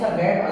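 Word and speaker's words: Tsangpo: हिमालय पर्वत से कौन सा गैप अलग करता है, तो ITCZ। ठीक, इसका फुल फॉर्म होता है इंडो सांगपो, टी से स्टार्ट होता है, टी साइलेंट रहता है, Indo सांगपो suture zone, Indo सांगपो suture zone.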